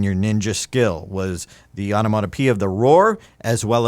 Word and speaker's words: onomatopoeia: How's it pronounced? Onomatopoeia. Onomatopoeia, anaphora, rhetorical questions, imagery, the tricolon.